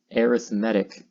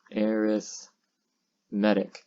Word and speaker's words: arithmetic: to talk about is arithmetic so aerith medic and you might see this word and you might want to pronounce it arithmetic and you can but it depends on the context surrounding it in this context as